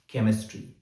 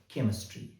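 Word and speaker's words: chemistry: उदाहरण के तौर पर केमिस्ट्री सी एच ई एम आई एस टी आर वाई केमिस्ट्री।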